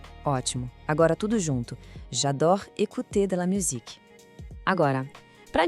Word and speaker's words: écouter: Para essa frase sair perfeita, o foco é na palavra écouter. O E inicial é bem agudo e o OU tem aquele som de U do português. Tente assim, ó.